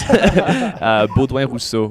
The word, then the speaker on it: Baudouin Rousseau: You go by, and then is it Boudin Rousseau? Is that the right way to say it? Yeah, you're pretty darn close. Baudouin Rousseau would be the French way to say it.